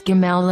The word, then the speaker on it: gimel: pronunciation does not change so whether it has or doesn't have a dot we pronounce gimel as the g sound of the word give in a future video